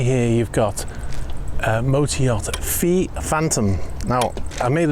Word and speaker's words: Phi: say the name because I've been calling it Pi, but I'm told, reliably informed by people close to the vessel, that it's actually pronounced Fee.